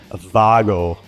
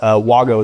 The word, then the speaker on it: WAGO: It's actually WGO straight from the horse's mouth. It's actually Vago cuz it's German, but WGO is how you say it.